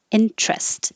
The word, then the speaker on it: interest: impotent impotent number seven stress is on the first syllable in trust you can say into rest but it's more common to make it shorter so interest is much more common interest spare this